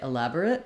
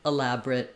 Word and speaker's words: elaborate: So 2 correct ways to say elaborate. You either say elaborate with 4 syllables or elaborate with just 3.